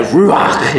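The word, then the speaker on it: רוח: Hebrew words there are ruach. Right, ruach. You gotta say it like that because it's Hebrew.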